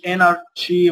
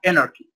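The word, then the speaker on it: anarchy: يبقى هنا اناركي، ما اقولش انارشي ولا شي، لا اناركي، اوكي.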